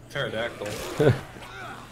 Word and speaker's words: pterodactyl: paradise pterodactyl the p is silent terry yay we did